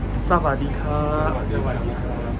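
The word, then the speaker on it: สวัสดีค่ะ: Savadika.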